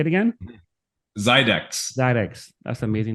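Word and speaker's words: Xidax: How do I pronounce that? Zydex. Got it. Say it again. Zydex.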